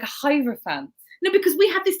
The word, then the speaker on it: Hierophant: really is manly energy mountain cards see i pronounced it with a like a hierophant no because we had this discussion i know and you took the piss out of me because i think i said aerofan thanks jim thanks jim sorry that's what the